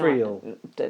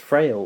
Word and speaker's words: Friel: And Rowan Frail? Nah, no. Friel. No idea, sorry. I always think of her name as being pronounced Frail, but I think it's Friel.